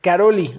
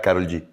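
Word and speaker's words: Károlyi: mi mente todo este tiempo pensé que era Karol G. ¿Sí? Karol G. Bueno, yo lo que estuve escuchando en las entrevistas y documentales lo pronuncian Karolyi.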